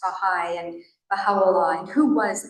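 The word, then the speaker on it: Bahá'í: people wonder what it is and how to pronounce bahigh and bahala and who was bahala this will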